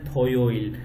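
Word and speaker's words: 토요일: Saturday को आप simple अंदाज में प्रोनाउंस कर सकते हैं, यानी कि आप कह सकते हैं थोयोइल।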